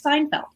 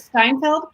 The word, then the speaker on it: Seinfeld: TV shows he liked he liked Seinfeld although he pronounced it Steinfeld I didn't want to